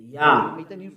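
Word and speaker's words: יה: How to pronounce it's Yah, according to the Hebrew. When you see this word, it is read Yah in Hebrew.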